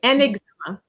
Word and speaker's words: un examen: have to remember that there's a liaison which is compulsory with un, always. Okay? So, you cannot say un examen, it has to be un examen. So, the n is going to uh go with the to make it flow.